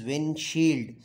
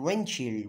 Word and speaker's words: windshield: d e r Fender the next one is windshield uh w i n s h i l